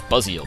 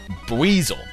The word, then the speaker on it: Buizel: someone told me that this thing rhymes with Weasel. I always thought it was Buzziel, because I never actually, like, watched the, you know, anime or anything. But apparently it's Buizel, which actually makes sense,